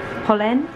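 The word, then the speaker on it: Polène: have got my pauline i'm so used to calling it pauline i forget how it pronounced pollen pollen pollen pollen i've got my pollen bag i think that's right um but yeah cute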